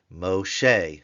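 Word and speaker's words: משה: M sharet to who Moshe that's the M with the holum Shin with the segull with the he it is a hey the barn door is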